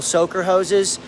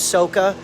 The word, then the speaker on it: soaker hose: aisle, get a couple soaker hoses, get a Y connector, hook it up to your faucet. It creates 2 hoses, and never pronounce soaker hose, soca, because that's not how you spell it.